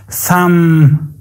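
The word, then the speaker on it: thumb: نمیشه کاملاً بی صدا هسته کاملاً امت مثلاً ثم فم فم سک تلفظ نشده کام کام کام بیش تلفظ نشده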